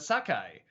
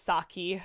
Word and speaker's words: Saki: the proper way, Oroku Sakai. Like, the more I think about it, maybe they mispronounced it in it's Saki. I said it wrong. Is it Saki? Okay. Yeah, because Sakai would have an AI.